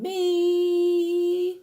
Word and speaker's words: mi: And me, saying me, you are actually, what are you saying? It's spelled M-I, but you're saying me, okay?